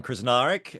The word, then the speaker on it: Krznaric: group sure so yeah my name is Roman krznaric um beautifully pronounced Onna by the way you're you're krar